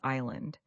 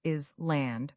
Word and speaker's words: island: Another word that confuses learners is island. Many people want to pronounce the S is land, but the S is completely silent. We say island.